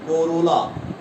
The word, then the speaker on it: corolla: What is pronunciation? Corolla.